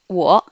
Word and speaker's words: 我: Wo. W prononce ou. Le O prononce O avec le troisième ton, ça fait O. Donc, ou, O, wo, ce qui veut dire moi ou je.